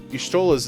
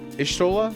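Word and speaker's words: Y'shtola: Yeah, because like when they say Yshtola's name, they like don't go Yshtola. They kind of do like it's almost like if you cut the audio at the beginning of the syllable, like Ishtola, right?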